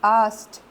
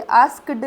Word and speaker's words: asked: आस्क में ईडी लगाएंगे तो ASKED आस्ट, ये आस्क्ड नहीं होएगा बेटा, आस्ट, क्योंकि इंग्लिश में क्या है कई सारे लेटर्स साइलेंट होते हैं, you need to be very careful about that.